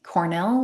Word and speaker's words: Cornell: It's Cornell, like the university Cornell on LinkedIn.